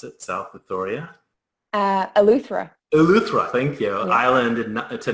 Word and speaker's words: Eleuthera: And according to Wikipedia, on October 22nd, 2014, she completed an unprecedented swim from I can't even pronounce it, South Victoria? Eleuthera. Eleuthera, thank you, Yeah.